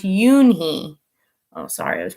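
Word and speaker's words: Unhei: It's spelled U-N-H-E-I. It's pronounced Yoonhee.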